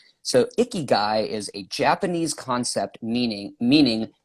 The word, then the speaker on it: Ikigai: it so much that I didn't want to mispronounce it. So there is, you ever heard of Ikigai? Ikigai? No. Ikigai, Ikigai.